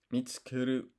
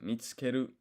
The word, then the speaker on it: 見つける: 見つける、 Mitsukeru. Okay, the emphasis is on the mitsukeru. 見つける、 This U is silent.